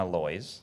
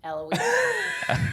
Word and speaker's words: Eloise: And um so you're the owner of Ali and Aloy. Eloise. Like Eloise at the Plaza. Remember that book? I forgot to write the Eloise fanatically.